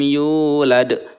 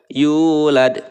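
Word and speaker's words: يُولَدْ: dhomah ya yuk lebih walam yulad yulad dua ketukan Yula the gitu ya ini adalah Mad Thobi'i dibacanya dua harokat glad ini adalah qolqolah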